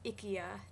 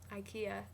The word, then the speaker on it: IKEA: She taught me that in Sweden, it's pronounced IKEA, not IKEA.